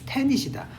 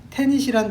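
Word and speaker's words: tenet: 애덤 스미스의 보이지 않는 손이 대부분의 경제학에 있어서의 근본적인 테닛이다. 테닛이란 단어가 조금 어려운데 선생님 이 테닛이란 단어를 좀 쉬운 단어로 바꿔드릴게요. 자, 바꿔보겠습니다. 철자는 테닛. 이게 철자가 이지만 발음은 I로 소리가 나요.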